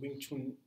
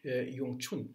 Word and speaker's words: Wing Chun: يعني في الشمال مثلا وينج يونج تشون، يونج تشون تشون يونج تشون، ده لهجة الماندرين. في لهجة الكانتونيز في بينطقها وينج تشون، في بينطقها هي أصلات